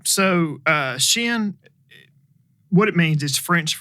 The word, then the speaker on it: Chêne: to my kids friend everybody pronounces it different so and it is shin and i know when